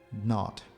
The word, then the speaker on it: knot: capillary tube, twisted around, knot. Notice we don't pronounce the K, mình không có đọc, không có phát âm chữ K.